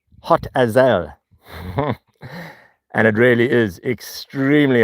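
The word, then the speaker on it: Hotazel: so there's no confusion, H O T A Z E L. Yes, hot Ael. And it really is extremely hot. Can you imagine living in a town called Hot Ael?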